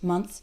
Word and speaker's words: months: prominent and in fact when speaking fast it might even sound like months like without the th months three months six months the th is still there it's just very very small very very quick another word is clothes